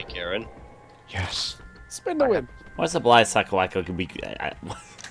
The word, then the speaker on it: Garand: I thrown away Garand I'd like to pronounce a Garand I know it's Garand but I pronounce a you say Karen yes spin what's a